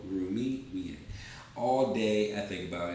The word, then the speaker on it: Rumi: let's see let's see since i said let's see it rhymes with the author of this quote rumi all day i think